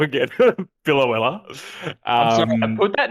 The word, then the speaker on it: Biloela: Biloela.